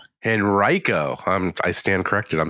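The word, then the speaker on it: Henrico: too too many people upset but it's it's pronounced henrio henrio I'm I stand corrected I'm sorry I've been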